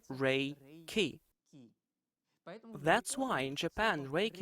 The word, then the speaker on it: Reiki: is universal life energy more truly it sounds like this the space is imbued with the original energy in japanese it's called ray ki that's why in japan